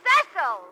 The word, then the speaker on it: Cecil: Now it's Cecil! Cecil! Darling, it's pronounced Cecil.